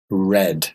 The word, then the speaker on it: read: in the past becomes red read yeah same word same spelling different pronunciation okay spelling the same